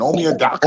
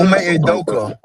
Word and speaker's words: Ime Udoka: Omi Adaka. Ime Udoka.